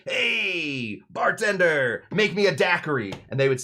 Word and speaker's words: Daiquiri: And Jennings Cox says, well, we're here in the town of Daiquiri. And they said, that's great. Nice and short. 3 syllables.